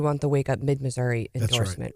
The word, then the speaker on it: Missouri: state in now because you will now be pronouncing the state correctly as Mark Ellinger says Missour and every real Missourian says Missour the deal yeah the